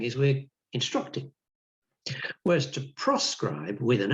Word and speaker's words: proscribe: Notice the difference between proscribe and prescribe. Notice also the tiny change in pronunciation. Proscribe, proscribe means don't do it. Prescribe means you must do it.